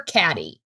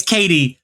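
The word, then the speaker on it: Cady: Is it Katie or Caddy? It's Katie, but like Mean Girls.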